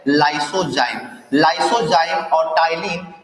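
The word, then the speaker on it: ptyalin: पहले प्रकार के एंजाइम का नाम होता है टाइलिन, ठीक है, टाइलिन नाम होता है। इसको में पी साइलेंट रहता है, टाइलिन।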